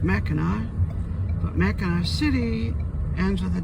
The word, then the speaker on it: Mackinac: mackinawa is spelled with a c but it's pronounced Mackinac Ana City ends with a W on the